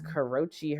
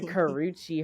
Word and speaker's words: Karrueche: in the hospital s bedside and there goes Karrochi herself Karuchi sorry Karuchi herself and for those yall don't know who